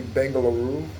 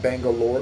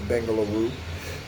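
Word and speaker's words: Bengaluru: Okay, so Mumbai uh Bangalore um which is actually Bangalaroo. It's not Bangalore. People pronounce it Bangalore but it's Bangalaroo.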